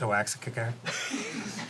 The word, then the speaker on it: Oaxaca: It's pronounced Oaxaca.